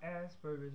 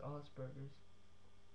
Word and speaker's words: Asperger's: And it's not Asperger's, if any of you know what it is, it's pronounced Asperger's.